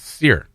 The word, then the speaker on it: Cyr: could go either way my middle name is sear and it's spelled cyr yeah so tim president of the